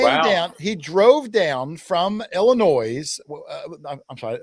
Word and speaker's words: Illinois: He came down He drove down from Illinois. I'm sorry. You're not supposed to pronounce the S. He drove down from Illinois.